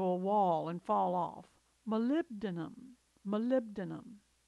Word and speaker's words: molybdenum: Molybdenum, molybdenum. This one looks tough, but it's really pronounced phonetically.